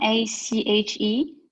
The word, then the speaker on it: ache: The CH is making what sound in echo? K. It's a K, yeah. Yeah. And how about, so see if you can find, just by that, there's two words in Old English that should be in Greek there, because they're the CH making the K sound.